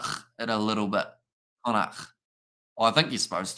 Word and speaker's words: Connacht: I can't even pronounce that name. Connacht, is it? Connacht. So pretty much it is Connacht. It's a bit of a weird spelling one.